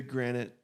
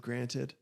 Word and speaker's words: granted: Oh, the granite instead of granted.